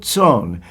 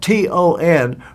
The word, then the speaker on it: Ton: It happened in the providence of God that an old friend, his name Joseph Ton, it's spelled T O N pronounced T S O N.